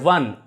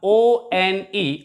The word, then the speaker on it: one: It produces a W sound at the initial position. For example, here the word one, O-N-E, of course it begins with the letter O, which is a vowel.